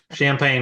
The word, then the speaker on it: Champaign: if we refer to it as the champagne Clippers champagne yeah there's a lot of them for this area um in the local vernacular but yeah champagne would be the the correct way to pronounce it no so when you